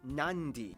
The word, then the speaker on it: Nadi: And just remember, in the Fijian alphabet, C makes the th sound, D makes the nd sound, B makes the mb sound.